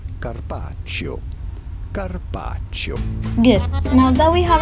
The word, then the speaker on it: Carpaccio: we are looking at how to pronounce Carpaccio Carpaccio good now that we have our pronunciation right